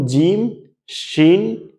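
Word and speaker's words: جيم: মধ্যখানের বরাবর যদি উপরে তালুর সাথে লাগিয়ে বলুন জিমশিন ইয়া তাহলে তিনটা অক্ষরের সঠিক উচ্চারণ হয়ে যাইতেছে।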